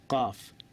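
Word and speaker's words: قاف: আরেকটা একটা অক্ষর হচ্ছে কফ অনেকে হয় কফ কফ না কফ কফ এইটা হচ্ছে কাফ হালকাভাবে কাফ এটা কফ কফ কাফ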